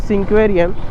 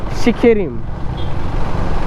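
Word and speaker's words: Sinquerim: और जैसे समीर भैया ने बताया कि the actual pronunciation of the place where I am staying is नॉट सिंक्वेरियम इट शिकेरिम। इट्स शिकेरिम।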